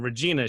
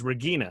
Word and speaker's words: Regina: there's a reason that instead of her being regina she's regina right because they don't have a soft g that's like a total english thing yeah jonas and then